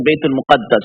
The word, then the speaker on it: Baytul Muqaddas: Baytul Muqaddas is pronounced in 2 ways. Baytul Maqdis and Baytul Muqaddas. Both are okay.